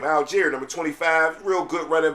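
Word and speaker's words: Allgeier: And the Cardinals always also picked up running back uh Aguiler from uh from the uh Falcons, right? No, Alir, that's how you say his name. Alier, number 25.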